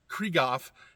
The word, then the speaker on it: Krieghoff: I believe it's pronounced a Krieghoff, and it's made, I believe, in Turkey, and it's either like an M70 or an L90, something like that.